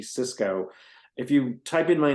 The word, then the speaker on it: Csicsko: easy name to spell it's Hungarian corrected by Canadians so my last name is spelled CSI CSK K and it's Cisco if you type in